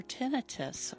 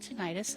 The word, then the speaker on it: tinnitus: But we also do diagnostics for tenitus or some people pronounce it tenitis and that's fine too.